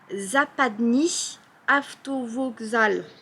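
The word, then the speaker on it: Западный автовокзал: C'est la gare routière ouest et en fait, ça s'appelle Zapadny Avtovokzal. Ok. J'ai bien prononcé? Ouais, c'est bien, c'est pas mal.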